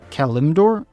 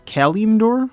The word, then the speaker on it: Kalimdor: I think someone told me it was Kalimdor. I say it's Kalimdor, but someone told me it's Kalimdor, like as in California, Kalimdor.